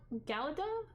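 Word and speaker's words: Galadhon: uh Carlos gal Gala galada but the DH is pronounced more like a th so um but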